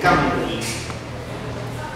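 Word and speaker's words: Cymru: Gar se dice Camry. Se pronuncia Camry.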